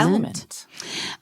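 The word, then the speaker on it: LMNT: that's we love element it's l m NT but you pronounce it element element um it's a very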